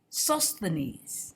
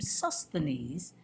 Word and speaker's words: Sosthenes: Then all the Greeks took Sosthenes is how you say this name, Sosthenes, the ruler of the synagogue, and beat him before the judgment seat.